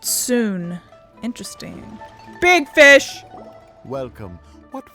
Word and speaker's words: Soon: The word looks like sun, but it's pronounced soon.